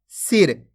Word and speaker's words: सिर: ऐसे नहीं पढ़ना आपको, सिर खींच के नहीं पढ़ना। अगर खींच के पढ़ोगे तो बड़ी ई की मात्रा का उच्चारण हो जाएगा सिर। यहाँ पे बड़ी ई की मात्रा लगी हुई है तो खींच के पढ़ा जा रहा है सिर, जबकि यहाँ पे छोटी ई की मात्रा है तो अपन कम खींच के पढ़ेंगे।